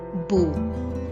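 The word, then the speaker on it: beaux: The X is silent, it is not pronounced.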